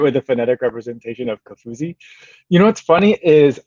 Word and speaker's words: Kofuzi: a phonetic representation of kafuzi you know what's funny is um a lot of people will call me because if you put it into to siri that's how siri reads it that's that's what i